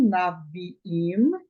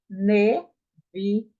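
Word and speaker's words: נביאים: Então, a sílaba propretônica, ela será reduzida a um shivar simples, ou seja, agora você lerá não naviim, e sim neviim, neviim, profetas, ok?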